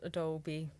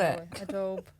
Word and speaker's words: Adobe: at the moment and I've mispronounced the word Adobe oh no what call it ad do okay I just had